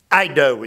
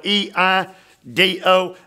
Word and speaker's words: eido: And the verb see there, Eido, it's spelled E-I-D-O, and it can mean to see here and see good days.